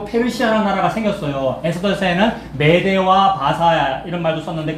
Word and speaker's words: 바사: 에스더서에는 메데와 바사 이런 말도 썼는데 거기 바사라는 말이 페르시아를 우리나라식으로 발음하면 파사, 바사 안 되겠습니까? 그죠? 이거 페르시아가 바사란 말이에요.